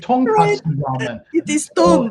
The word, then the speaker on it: tonkatsu: And I made a mistake in the pronunciation. I say, uh, okay, we have I go miso ramen, shiyu ramen, to uh, konkatsu ramen, but it's a it's actually should be Right. tonkatsu ramen.